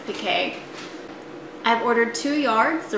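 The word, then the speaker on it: piqué: call the performance pique it's spelled like performance peak but they have a little apostrophe on the e so i think they pronounce it pk i've ordered two yards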